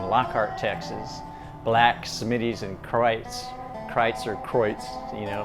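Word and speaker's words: Kreuz: texas black smitty's and krites kreitzer kreutz you know spelt croix pronounced christ like a german pronunciation and they're old places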